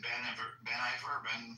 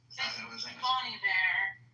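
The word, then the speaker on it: Bon Iver: If you watch her writing Folklore during COVID, she had, was it Ben Iver? What's his name? Bonnie Bear. Yeah, I know, it throws me off because it's spelled like Ben.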